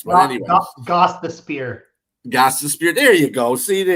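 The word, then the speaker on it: Gostisbehere: And Shane Gostenberger. And I say that because those are some hard-ass names in the NHL to pronounce. But anyway. Goss the Spear.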